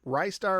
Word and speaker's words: Ristar: Rystar or Ristar, however you want to pronounce it, a kind of a cult platformer.